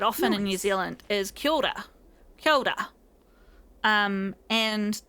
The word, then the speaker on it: kia ora: And that can sound like I'm just saying ki, ora, or ora. But it's actually K-I-A-O-R-A. Kia ora. Kia ora. See how that changes as you mush it all together?